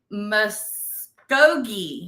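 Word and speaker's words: Muskogee: say it right this time it was in Mogi there you go in 1917 so the very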